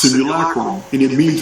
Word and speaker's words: simulacrum: And for those of you who don't know, yes, I am mispronouncing it. I will continue to do so. This is the way I was raised. I found this word in a 1800s Oxford English dictionary. And I'm not going to change that. It's pronounced simulacrum, and it means it's